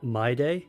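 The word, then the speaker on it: Mydei: besing my tribe's honor my day didn't you also turn a blind eye or my how do you that is pronounced my day right isn't this Lord mighty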